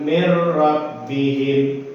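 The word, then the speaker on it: مِن رَّبِّهِمْ: Tapi karena di sini kita menggunakan hukum tajwid, yaitu hukum idgham bila gunnah, maka cara bacanya seperti ini. Walakin la sama dengan walakin la, mir rabbihim sama dengan mir rabbihim.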